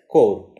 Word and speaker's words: corps: So this word is core commander level talks, and this is spelled as CORPS, but it is pronounced as core.